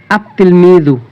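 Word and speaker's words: التلميذ: তাহলে আমরা আলিফ এই আল যুক্ত শব্দের লামটি উচ্চারণ হবে না দেখুন তিফলুন এখানে যদি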